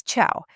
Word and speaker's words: ciao: My personal favorite and one you'll hear all over Latin America and Spain is ciao.